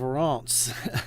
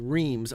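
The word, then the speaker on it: Reims: He did the windows for the Cathedral of Rance. I know it's spelled it looks like it says reams re ei.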